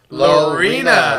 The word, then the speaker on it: Lorena: texas there you go you guys are still pronouncing it wrong it's lorena lorena sarah let us know